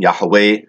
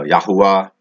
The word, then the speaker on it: Yahweh: that that sacred name others pronounce some pronounce you know yahuwah or yahawa some pronounce the i am a we say it's all the above it's all the above